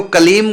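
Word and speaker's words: क्लीं: देखो, कलीम का उच्चारण कलीम, बस कलीम, लास्ट में मां हलंत, मतलब होठ बंद ही रहे, खोले ना, कलीम। और यदि हम बोल दिया कलीम, ये अशुद्ध हो गया, क्योंकि हमने होठ खोल दिए।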